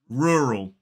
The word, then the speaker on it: rural: But this word is rural. 2 syllables, stress falls on the first. So it's and then ul. 2 syllables, stress falls on that first.